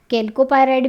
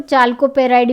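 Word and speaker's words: chalcopyrite: Copper पायराइड भी कहा जाता है जिसे, कैल्कोपायराइड भी कहा जाता है, और चाल्कोपेराइड भी इसका नाम कहीं कहीं पर प्रोनाउंस कर दिया जाता है।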